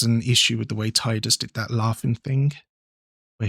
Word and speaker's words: Tidus: Do you say Tidus or Tidus? Because they say his name is said Tidus, but I always pronounce it Tidus because that's just, they never